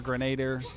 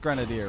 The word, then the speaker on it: grenadier: mr poison grenadier or grenader whatever i think it's pronounced grenadier right then it sounds like the out the alcohol flavoring syrup grenadine something oh excuse you